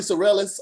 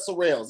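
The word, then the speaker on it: Sorrells: well they were called people were saying billy sorellis on stage they was they were saying everything but surreals it's not that difficult last name is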